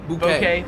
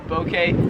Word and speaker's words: bouquet: So I say bouquet, but like a soft O, bouquet. Here in Australia, they would pronounce it bouquet. A bouquet of flowers, bouquet of flowers, bouquet. You guys really get that U in there.